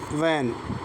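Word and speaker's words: when: व्हेन तो व्हेन में H silent है। क्यों? क्योंकि एच के बाद ई है।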